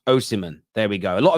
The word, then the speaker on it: Osimhen: It's pronounced Osimhen.